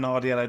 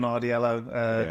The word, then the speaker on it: Nardiello: To be fair, it's a difficult one, but yeah, Nardiello, Nardiello. Yeah, Yeah. It was a good pronunciation.